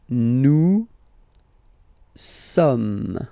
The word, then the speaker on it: sommes: Okay, nous sommes. Okay, so you don't pronounce the final S here, it doesn't exist. Sommes.